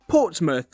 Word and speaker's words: Portsmouth: And while it's spelled mouth, we say muth. For example, Portsmouth or Plymouth.